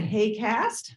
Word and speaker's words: HAQAST: this acronym h-a-q-a-s-t uh we pronounce it hey cast um and uh you'll